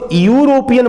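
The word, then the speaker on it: European: यूरोपियन, हम इसको यूरोपियन बोलते हैं, यूरोपियन। तो यू जो है वो कॉन्सोनेंट प्रोनाउंसिएशन है, इसीलिए एन लगाएंगे तो गलत हो जाएगा, ए लगाना होगा।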